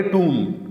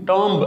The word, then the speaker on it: tomb: اس کو لکھا جاتا ہے TOMB، ٹومب، لیکن اس کو پڑھیں گے ٹوم. ٹومب آخر میں بی کی آواز اور اس کا لمبا کر کے نہیں، ٹوم.